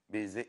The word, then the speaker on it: baiser: Baiser est une forme de salutation, évidemment, de la part des Hébreux. Il faut dire baiser, voilà.